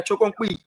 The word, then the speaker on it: Chokon Kui: Is that how you pronounce the last name? Kui? Damo? Yeah, Chokon Kui.